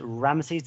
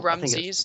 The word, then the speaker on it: Ramses: Was it Ramesses II? It was one of the Ramesses, yeah. Yeah, or Ramses, depending on how you want to pronounce it. Yeah. Ramses, if you're from the Scandinavians.